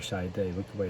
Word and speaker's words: Chiat/Day: it's fun it's not doesn't just sound like shy day look the way it's spelled shy it's days and this were at